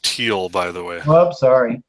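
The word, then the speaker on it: Thiel: but this guy Peter theel are you familiar with Peter the Alex I believe it's pronounced teal by the way oh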